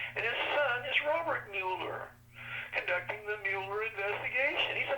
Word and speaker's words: Mueller: Mueller is not the proper pronunciation. It's Mueller.